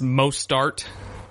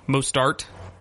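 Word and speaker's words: Mostert: pronounced billion different ways I think it's most start most start kind of like Mozart which he was definitely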